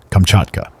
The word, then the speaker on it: Kamchatka: eastern Asia that forms the peninsula generally called Kamchatka. But according to the pronunciation of the Russian emigrants who inhabit it, and the dialect of the aborigines of the country, Kamchatka.